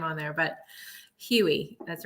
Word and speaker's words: Huye: now don't y'all get it wrong it's holly huey that's right h-e-y i didn't put my last name on there but huey that's right see me going on my can't